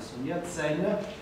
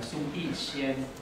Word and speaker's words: Sun Yat-sen: Sotto trovate la pronuncia cantonese, da cui è derivata la nostra pronuncia internazionale Sun Yat-sen, e in alto trovate invece la pronuncia mandarina Sun Yixian, che non è proprio abituale in cinese.